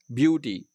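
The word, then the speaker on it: beauty: इसी तरह ब्यूटी, तो यू पर, यू साउंड पर स्ट्रेस है, तो ये बीच में है।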